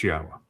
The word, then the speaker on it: Yahowah: It's Yahowah. And I don't give a crap what you want to believe, that something else or that there's a different way to pronounce it. No, it is Yahowah.